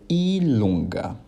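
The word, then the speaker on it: i lunga: x e o y que em italiano serão pronunciados como ilonga capa do piavo bem parecido com português não é mesmo e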